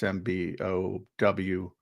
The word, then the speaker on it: Mbow: So the 4 guys they brought in, Marcus Mbow. If I butchered his name, I apologize. It's Mbow, who's from Purdue.